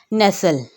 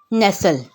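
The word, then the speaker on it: nestle: नेसल, कैसल, विसल, हसल, ब्रिसल, Russell. इन्हीं सब words में हमें ये पता चला, सबसे पहले है नेसल, इसमें जो टी है वो प्रोनाउंस नहीं होगा, साइलेंट है।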